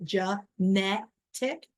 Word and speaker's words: genetic: you realize you say genetic so the emphasis is on second syllable in genetic um and then it